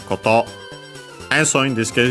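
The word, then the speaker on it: こと: Accent on the last mora, so yeah, koto.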